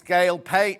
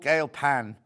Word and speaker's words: Gail Pan: Anderson this it's not it's Gail pain oh no I've been saying her name wrong on the box does it say Gail pain she's called Gail pan we should know that